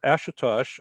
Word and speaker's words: Ashutosh: And so it's Ashutosh, Ashutosh, Ashutosh. Last name, is that how to pronounce it?